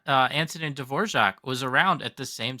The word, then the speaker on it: Dvorak: Is that how you pronounce it? Dvorak? Is that Dvorak? Dvorak.